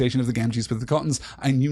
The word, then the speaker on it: Gamgee: I have heard people argue that it should in fact be Sam Gamgee.